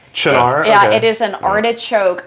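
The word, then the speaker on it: Cynar: that c y n a RAR yeah it's pronounced chinar chinar yeah it is an artichoke Amaro [ __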